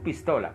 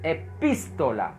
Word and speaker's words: epístola: estás diciendo el español epístola eso es su pistola cuidado es epístola es diferente acento en la y me estás comprende